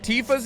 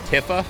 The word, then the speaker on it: Tifa: stupid like like tifa's name I remember pronouncing it when I was younger as tiffa instead of Tifa which like Tifa Tifa